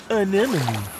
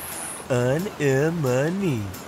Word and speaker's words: anemone: Anemone. Anemone. Anemone. Anemone. Hey, I got it. Great pronunciation, Dean.